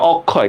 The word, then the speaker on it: অক্ষয়: এই যে অক্ষয়, কারণ এখানে অয় উচ্চারণ আছে।